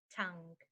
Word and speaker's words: tongue: next one is Tong tongue and Tonga is just you know as part of the body I hear so to remember the pronunciation use this sentence the elephant's tongue must weigh a ton the elephant's tongue must